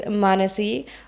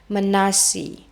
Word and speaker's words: Manasi: My name is Manasi, or as the Flemish people in Belgium like to say, Manasi.